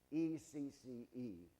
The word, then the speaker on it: ecce: And Pilate said unto them, now it's a famous Latin phrase, E-C-C-E, pronounced ecce, and H-O-M-O, homo.